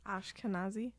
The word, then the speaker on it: Ashkenazi: Ashkenazi.